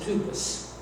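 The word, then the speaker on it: τύπος: There is a Greek word that is pronounced tupos, T-U-P-O-S.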